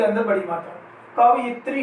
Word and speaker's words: कवयित्री: दोस्तों आगे देखते हैं इसमें कवियत्री। ये कवियत्री अशुद्ध शब्द है, और इसके स्थान पर शुद्ध रूप हो जाएगा इसका कवयित्री, कवयित्री, यानी यहाँ पर ये